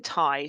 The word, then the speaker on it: Tighe: So Martin Tighe. So in the census, it's initially spelled Tighe. When he is when he is baptized, when he is baptized, Tighe is spelled Tye.